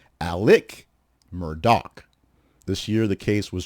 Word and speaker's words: Murdaugh: Alex Murdaugh, who is the prominent South Carolina attorney who